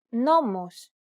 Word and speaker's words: νόμος: This accent just indicates that you need to stress the syllable. That's it. Κάλος, καλός. Νόμος, νομός. Θέα, θεά. Notice how the accented syllables are emphasized? It's pronounced a little bit louder and longer than the surrounding syllables.